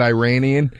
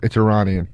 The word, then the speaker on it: Iranian: When I was backstage at the Axis of Evil show, I felt like such an asshole because I said Iranian. And he goes, it's Iranian.